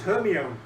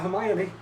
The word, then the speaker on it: Hermione: and pronunciation. Yeah. Oh, yeah. Yeah. But I've also... until the movies came out, it was Hermione, not Hermione.